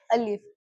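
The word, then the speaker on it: ا: अलीफ। इसका प्रोनाउंसिएशन क्या होगा?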